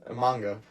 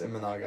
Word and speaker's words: Imanaga: My first shout is going to go to Shota Imanaga. Sorry, that's Imanaga.